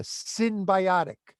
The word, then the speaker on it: synbiotic: It's called a synbiotic. That's spelled S-Y-N as in Nancy.